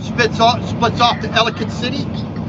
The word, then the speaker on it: Ellicott: from ellicott city because they would say ellie cot they would try to pronounce every letter ellicott no it's ellicott you got to cram it all together you got to slur it all together that's how you know you're local and i